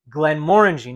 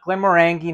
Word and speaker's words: Glenmorangie: glass of Glenn Mory and that's how you pronounce it GL guys Glide guys Glenn Mori not Glenn mangi not Glenn morangie Glenn Mori Marie bazard a wonderful family of